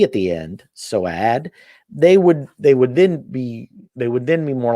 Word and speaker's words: Soad: It's pronounced like so-ad. Okay, so so-ad.